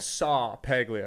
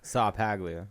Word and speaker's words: Ceppaglia: at the start like your name on here is spelled saw paglia because it's going to be easier dude that's your white boy name i love it i love it saw paglia so i asked nat